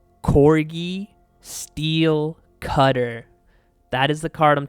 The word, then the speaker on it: Cori-Steel Cutter: And I see everyone mispronouncing the name of this card. Say it with me. Cori-Steel Cutter.